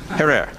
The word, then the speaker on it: Herer: Have I pronounced it correctly, Jack? Herer.